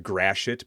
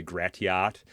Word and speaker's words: Gratiot: And we have streets like uh Grashit, but the way it's spelled people say Gratiot and Google Maps is always screwing these up.